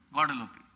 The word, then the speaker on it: Guadalupe: Guadalupe.